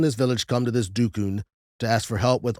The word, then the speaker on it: dukun: So there's a lot of different ways they pronounce this. The most popular way is dukun, okay?